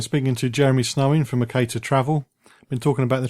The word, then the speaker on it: Mercator: We say Mercator, but plenty of people ring us up and call us Mercator, so you're not alone in the name pronunciation.